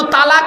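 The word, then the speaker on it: طلاق: আরবিতে একটা শব্দ উচ্চারণ করে। কি বলে? তালাক।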